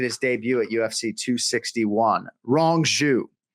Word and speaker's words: Rong Zhu: Rong Zhu. Wrong Jew is how I've been trying to remember the pronunciation, incorrect Jew, wrong Jew.